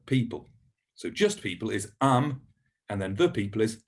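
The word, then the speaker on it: עם: So just people is am, and then the people is ha'am.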